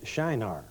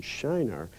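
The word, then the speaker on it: Çınar: Well, if you look at carefully, it spells C-I-N-A-R, but the C has a little stroke at the bottom of it, which means pronounce this like an S.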